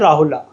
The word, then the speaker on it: राहुल: ठीक है, तो राहुल को भी ऐसे लिखा जाता है राहुला। ठीक है, बोलते लेकिन राहुल है, ए साइलेंट होता है।